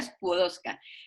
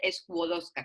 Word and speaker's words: Skłodowska: María Skłodowska Curie, sí, María Skłodowska. Estuve 25 días en Polonia el verano pasado y lo único que aprendí es a pronunciar el nombre Skłodowska, que no es Skło, sino Skło.